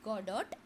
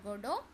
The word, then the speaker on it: Godot: Samuel Becket waiting for godo so you cannot um pronounce this as Godot you have to pronounce it as goo goo here T is silent I'm repeating T is